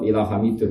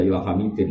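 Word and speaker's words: حَمِيدٌ: Bacanya ya tetap ila hamidun karena i'rab hikayah. Enggak boleh kamu baca ila hamidin apa?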